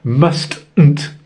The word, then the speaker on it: mustn't: Notice, mustn't is spelt spelled must-n't. Um but we say mustn't. The middle T is lost.